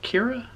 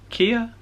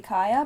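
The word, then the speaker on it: Kya: It's K-Y-A? Is Kira? Kia? I don't know. I'm going to have to ask Emma. I don't know. We thought maybe Kaya, but it was a matter of discussion for us too. Yeah, definitely not Kira though.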